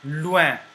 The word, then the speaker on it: loin: Oen is oin, and the word example is loen, loin, which means far, loin, far.